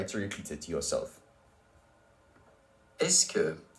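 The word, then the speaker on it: est-ce que: the ES me es looks a little formable and it may not be pronounced exactly how youd expect have a listen to it below and try to repeat it to yourself est que est que est que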